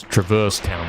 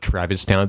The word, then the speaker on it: Traverse Town: It's Traverse Town, but it's the actual word is traverse. You see what I'm saying? Cuz traverse town makes no sense. You see what I'm saying? That's That's what you're trying to say. It's not legal to say traverse town.